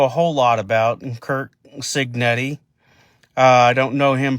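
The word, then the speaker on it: Cignetti: him in place, uh Curts Senetti, Signetti, that's how you pronounce it, I believe.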